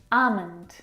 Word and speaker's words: almond: Almond. Now in this word, the L is silent.